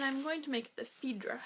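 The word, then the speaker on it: Fidra: going to make the fedra Hat I think that's how you say it it's f i d r a it's by gin goodin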